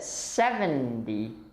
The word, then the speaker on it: seventy: remember that 70 we stress the first part of the word we stress the seven